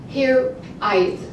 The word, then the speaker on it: hiraeth: It's Celtic, hiraeth. It's spelled H-I-R-A-E-T-H.